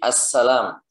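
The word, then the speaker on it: السلام: Nah, kalau kita nulis kan tetap al kan. Assalam nulisnya alif lam sin lam alif mim kan. Nah itu maksudnya. Jadi assalam. Tapi bacanya apa? Assalam.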